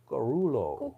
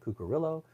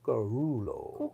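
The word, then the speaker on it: Cuccurullo: that's how you have to say it no karulo karulo remember he was on stage in Italy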